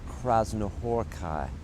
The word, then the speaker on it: Krasznahorkai: to really mispronounce, but I call him Laszlo Krasznahorkai. But I know that he doesn't say the Krasznahorkai part as beautifully as I do, but he says it absolutely correctly.